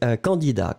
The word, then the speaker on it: candidat: The first one is candidat. Candidat in that case, as you can see, it's the masculine form. So it's written C-A-N-D-I-D-A-T. T, final T, not pronounced, but still it should be here.